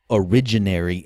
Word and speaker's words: originary: So in the Austrian tradition, incidentally, it's typical for them to regard this originary interest, and that's spelled like origin, A-R-Y at the end.